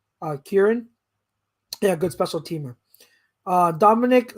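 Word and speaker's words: Kyron: How do you pronounce his first name? Kieran. Kieran.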